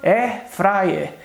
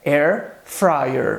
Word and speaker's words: air fryer: gente fala air fryer, A gente costuma dizer no português, eu comprei uma air fryer, quando a pronúncia correta é air fryer.